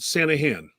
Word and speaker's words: Sanaghan: yeah thanks for asking the g is silent it's called santa han all right so